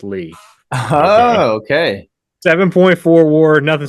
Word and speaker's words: Lea: going with French Legend Charlie Lee Charlie Leah baseball reference has it pronounce Lee oh okay 7.4 War